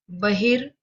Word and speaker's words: बहिर्मुखी: मैं क्यों बार बार ये र पर मैं जोर डालती हूँ, र पर मैं बार बार यहाँ पर जोर डालती हूँ। बहिर, तो यहाँ पर हम र का उच्चारण सुनते हैं बहिर। र र जो है वह यहाँ पर रेफार के रूप में यहाँ पर लग गया।